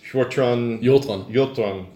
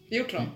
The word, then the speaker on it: Hjortron: Hjortron. Hjortron. So how does the HJ sound? Is the H silent? Yeah.